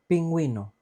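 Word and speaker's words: pingüino: umbrella and for example pinguino pinguino penguin the animal no h pinguo so we pronounce the U we pronounce the U and this is because on the top of the U we have diis these two little dots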